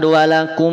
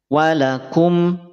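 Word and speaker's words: وَلَكُمْ: Di lafad walakum ma kasabtum terdapat satu mim sukun. Nah, ini tanda baca apa? Sukun atau mati. Maka mim ketika sukun secara basic dia bunyinya adalah M. Nah, gitu ya. Walakum, walakum, walakum.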